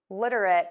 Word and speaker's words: literate: So let's tackle what is really difficult for most people. It's that flap T that you're hearing.